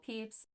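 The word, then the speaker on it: Pepys: famous British diarist Samuel peeps yes that is actually how you say his name from the 22nd of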